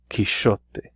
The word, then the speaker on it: Quixote: mancha and you'll see Don Quixote written with a letter X here in older Spanish it would have been pronounced he shot he shot there but that X became